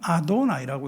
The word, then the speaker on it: 아도나이: 그래서 유대인들은 하나님에 대해서 막 그냥 뭐 여호와 그래서 발음을 몰라요.네 글자음네 글자를 써 놓고 다르게 읽어요. 그거를 그걸 어떻게 읽냐면 아도나이라고 있습니다.